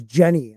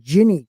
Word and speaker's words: Ginny: I said Ginny last week and everybody said it was Jenny. I was like, no, you pronounce it Ginny because it's a G.